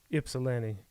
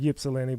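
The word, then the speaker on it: Ypsilanti: that day traveled to I'm not sure what this word is or how to say it is why as in yoyo ipsen ypil I call it yilen but they say it's ipsen but how the hell do you have a silent letter in the alphabet PS i l a n t i if you're from Detroit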